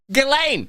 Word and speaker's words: Ghislaine: Ghislaine, that's how you say it.